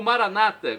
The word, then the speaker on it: Maranata: na última sílaba ou Maranata com a tônica na penúltima sílaba como dizem em nossos irmãos separados os evangélicos ou protestantes não importa a pronúncia